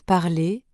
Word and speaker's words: parler: dit pas par exemple dans parler on n'entend pas le r dans bon on n'entend